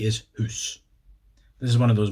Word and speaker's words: hoose: But it's interesting because if you ask me to spell Hoose, as a Scot would say it, I would spell it H-O-O-S-E, which is of course house.